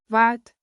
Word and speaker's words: wat: Break it down. Wat like what. Plus kos like cost.